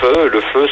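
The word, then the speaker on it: phở: Mon péché mignon, moi, c'est le feu, qui s'écrit faux en fait.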